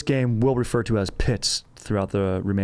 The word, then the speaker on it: Pitz: use the name now, Pitz, is kind of what it's known as, Pitz, Pitz. That's how they say it.